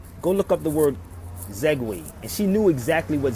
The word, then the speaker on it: Zagwe: Zagwe. I'm going to spell it again for y'all.